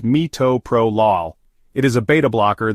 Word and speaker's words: metoprolol: of bleeding metoprolol also known as less is pronounced metoprolol it is a beta blocker that reduces blood